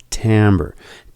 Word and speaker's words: timbre: call these differences tambour now it looks like it's spelt timbre but it's pronounced tammer Tambor is the quality